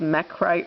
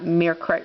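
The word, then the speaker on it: Mechrite: merite red uh uh it's actually pronounced meite red not merite red but whatever I mispronounced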